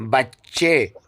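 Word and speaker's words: بچه: الف کا ہوتا ہے، جیسے کعبہ بولتے ہیں اردو میں، بچہ بولتے ہیں اردو میں، پردہ بولتے ہیں اردو میں، لیکن فارسی میں اس کو ہے پڑھتے ہیں، بچے، کعبے، پارچے، ٹھیک ہے؟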